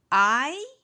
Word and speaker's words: Hay: Hay un libro en el escritorio. Hay, remember that H is silent, un libro en el escritorio.